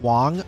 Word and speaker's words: Wang: Wang is pronounced Wong.